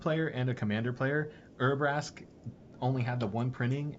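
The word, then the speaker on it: Urabrask: Don't even know what Brask is or even how to spell it to look it up. Brasque. All right, we we can edit that out. Urasque is U R A B R A S K. Urasque the hidden.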